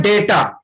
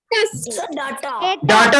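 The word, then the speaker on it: data: और लास्ट का होता है डेटा। डाटा नहीं, डाटा नहीं, डेटा, डेटा। बोलते हैं। हाँ, डेटा रहेगा प्रोनाउंसिएशन, डाटा नहीं होगा, डेटा बोलिएगा, डेटा।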